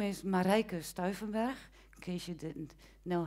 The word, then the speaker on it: Marijke Stuivenberg: My name is Marijke Stuivenberg, in case you didn't know how to pronounce.